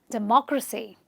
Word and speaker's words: democracy: A lot of people say democracy, democracy, I don't know, but the actual way of saying it is democracy. We believe in democracy.